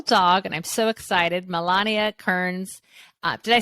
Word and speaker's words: Milana Kearns: with your natural dog and I'm so excited Melania Kearns uh did I say it right did I